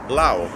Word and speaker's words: Laos: a country so uh back in 1893 a nation called France decided to colonize this country called Lao but the French being what they are decided to put a solent s at the word Lao